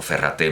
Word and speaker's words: Ferrater: de filosofía de nuestro ferrater mora o ferraté moral a ferrater mora rate a la catalana que no se pronuncia la r pero bueno nuestro ferrater